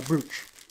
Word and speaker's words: brooch: Uh, brooch. Brooch. I got a brooch. Brooch. It's spelled br, but it's brooch.